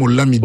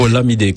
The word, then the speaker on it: Olomide: On prononce même Olamide. Olamide, comme au Nigeria.